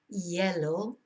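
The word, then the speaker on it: hielo: ask for them con yellow so Cafe Con lechik on yellow Cafe solo con yellow cafe Americano con yellow yellow of course is uh ice is pronounced yellow because you don't pronounce the h and what you will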